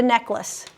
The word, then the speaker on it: necklace: And then it's interesting how the word, the pronunciation changes. It's like lace with a long A. But as soon as you put neck on there, that A becomes a short A, necklace.